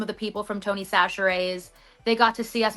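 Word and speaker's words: Chachere: Sachere. Sachere? Yeah, I've been saying Cashere, but it's Sachere.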